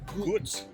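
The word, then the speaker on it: Gull: the a local beer gos g l but pronounced gos and I went with the Frozen slushie surprise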